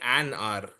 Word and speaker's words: hour: But we when we say we say r o o ur we do not we do not uh we do not pronounce the h. The h is silent.